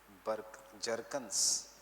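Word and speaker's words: Bjerknes: War One by bye Jerkins Jerkins and Jerkins by Jerkins and Jerkins B is silent they are Norwegian so yeah B is always silent by Jerkins and Jerkins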